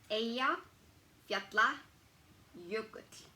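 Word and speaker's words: Eyjafjallajökull: so aya yatla yogurt it's a double l's that will definitely throw people off like i said like in my like in my name with a it's pronounced like it has dl or tl it really depends on like how it's pronounced and again this cursed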